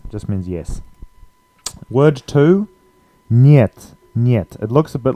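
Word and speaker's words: нет: it means yes just means yes word two niet it looks a bit like hit but it's um yet the E is pronounced as a y e so yeah instead of E so niet means no means next word we have this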